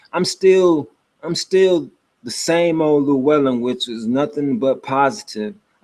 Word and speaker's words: Llewellyn: It's just you just have to know you don't pronounce the L's as L sounds. You pronounce them as N sounds. This is Llewellyn, not changing the spelling. It's still the same spelling, but this is Llewellyn.